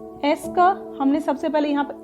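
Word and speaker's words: est-ce que: यूज कर सकते हैं, एस का हमने सबसे पहले यहाँ पर इसे प्रोनाउंस कैसे करेंगे? एस्क एस्क एस्क एस्क एस्क, यानी कि एस और क, एस और क, एस्क एस्क एस्क, राइट।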